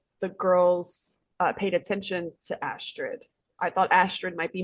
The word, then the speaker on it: Astrid: Again, it's just these like blinders of like, And because also, is it Alistair? Is that, what is her name? I feel like I'm saying it wrong. Astrid.